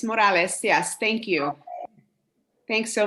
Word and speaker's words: Morales: we have miss morales i'm hoping i'm pronouncing your name correctly you got it it's morales yes thank you thanks so much um so